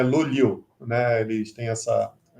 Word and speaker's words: Luleå: porque é difícil mesmo, as pessoas não sabem pronunciar. Normalmente, em português, você fala Luleia, mas o A com a bolinha em cima, ele termina com Yu, então é Luliu, né?